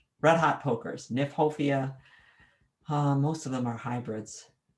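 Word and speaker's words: Kniphofia: the botanical name but i don't right now nyphofia the um what's in aphofia called red hot pokers nyphofia most of them are hybrids umbrella pine is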